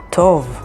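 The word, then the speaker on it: טוב: that sounds like ta here's a good word tov which means good and it's spelled with tet vav and bet tov next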